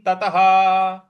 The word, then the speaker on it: ततः: प्रकार बोलेंगे ततः ततः ह जो त के आगे विसर्ग है उसका उच्चारण उसके आगे कोई शब्द नहीं कोई अक्षर नहीं है इस वजह से उसका ह का उच्चारण लाएंगे तो ये हो जाएगा मन्यते नाधिक ततः मन्यते नाधिक ततः इस प्रकार से बोलेंगे अगला पद है यस्मिनस्थितो